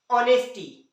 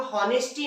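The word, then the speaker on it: honesty: कुछ पार्टिकुलर शब्द में यदि ह ओ के पहले आए तो साइलेंट होता है हमें यहां कुछ पार्टिकुलर इसलिए बोल रहा है क्योंकि हर जगह नहीं होता जैसे देखिए ऑनेस्टी है ना इसे हम लोग ऑनेस्टी नहीं पढ़ते क्या पढ़ते हैं ऑनेस्टी पढ़ते हैं स्पेलिंग चालू होती है ह ओ एन ए एस टी ए लेकिन पढ़ते ऑनेस्टी है उसी तरह से ऑनेस्टी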